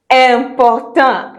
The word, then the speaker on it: important: And then another word which you know very well but pronounced wrongly because of English, important. Important.